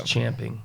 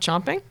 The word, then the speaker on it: champing: Everybody says chomping, but it's actually champing.